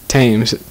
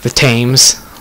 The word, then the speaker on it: Thames: We are close to the Thames. No wonder flooding is such a risk. Say it really American, like the Thames.